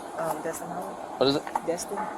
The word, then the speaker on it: Destin: Destin Howard. What is it? Destin. Dustin Howard. Dustin or Destin?